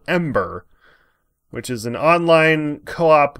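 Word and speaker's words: AM8ER: game that'll definitely fun while pronounced ember is spelt am hyphen eight ER and I don't know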